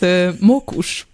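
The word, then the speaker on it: mókus: It's mokus. It's Mokus. actually not Easy, that easy, hard. easy. That's nice. Easy. Yeah, that's mokus. easy. It's Yeah. actually quite. Yeah. Mokush.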